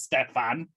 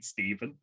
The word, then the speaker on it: Stefan: I love how I keep saying his first name wrong every single time. Every single fucking time. I can see it says Stefan, and I'm still saying Stephen.